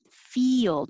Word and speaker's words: field: would could should would field field your tongue is going very high for fee and then it slides down like a y yelled field 25 aesthetic